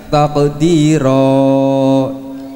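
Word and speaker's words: تَقْدِيرًا: Tulisannya taqdiron, dibacanya taqdira.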